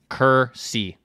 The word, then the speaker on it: Keirsey: Kersey is how we pronounce it. Kersey is the pronunciation?